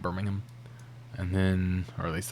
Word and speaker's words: Birmingham: wrong, like, you know, people don't say Birmingham like they do for Alabama. It's like Birmingham.